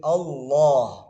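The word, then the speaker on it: الله: Tapi dalam pengucapan lafzul jalalah, lam ini akan menjadi tebal. Jadi Allah, bukan Allah, bukan pakai wa tapi tetap lam ya, tapi tebal. Aslinya itu kayak pengucapan umat Nasrani Allah tapi tebal, Allah, Allah seperti itu.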